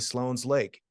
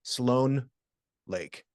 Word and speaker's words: Sloan Lake: I live next to Sloan's Lake it's actually Sloan Lake but because everyone called it Sloan's Lake they changed the signage they changed everything it just became Sloan's Lake because nobody said Sloan Lake it doesn't have